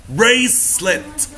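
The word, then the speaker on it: bracelet: العطر او البرفان طبعا سي لما بيجي بعدها اي او اي او واي بننطقها اس بريسليت عليها عند الاي شرطه صغنونه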